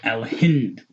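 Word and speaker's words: الهند: This is Al-Hind.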